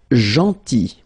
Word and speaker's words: gentil: Then gentil. So remember this final L is not pronounced.